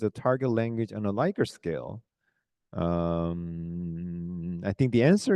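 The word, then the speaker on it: Likert: with the pronunciation because many people pronounce as a liquor scale but liquor scare is like your level of your alcohol level if you say my liquor scale is 20 oh you're not that strong the vodka is like 40 That's the liquor scale right you have to pronounce it lier scale because I remember I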